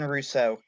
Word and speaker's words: Russo: introducing us to Sean Russo. I'm still pronouncing that right, right? It's a hard R, hard U. Yep, There we that's go. correct. Sean Russo And is the pronunciation.